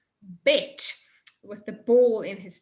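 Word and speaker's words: ב: Bet, with the ball in his tummy. As soon as you get kicked in the tummy with a ball, it's a hard sound, bah. But then if you're not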